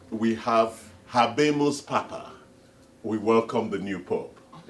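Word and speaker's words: Habemus Papam: Yes, exactly, to say we have Habemus Papa, we welcome the new Pope. Is that how they say it? Yes, Habemus Papa.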